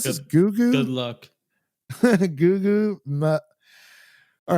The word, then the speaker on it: Gugu: But how do you pronounce this? Good Gugu? luck. Gugu.